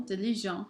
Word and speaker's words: diligent: For example, diligent, hardworking, becomes diligente. Notice how I'm going to emphasize and I'm going to pronounce that last T in the feminine form here. I would not normally pronounce it here.